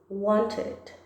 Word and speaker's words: wanted: E sim, na pronúncia, a gente também vai pronunciar o ED. Wanted, wanted, wanted.